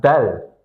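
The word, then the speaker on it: دال: And then we have Dal. This is Dal. This is Dal. And this is Zal. Looks exactly the same, but this is pronounced Dal with D, you know, the English letter D.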